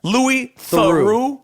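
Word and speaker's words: Louis Theroux: his name is says yes that's how he pronounce his name he's the British guy Lou THU okay and what's his documentaries well I saw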